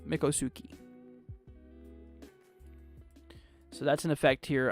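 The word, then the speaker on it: Miccosukee: you pronounce this area is it Mikko Suki it's like that's how you say mikosuki so that's an effect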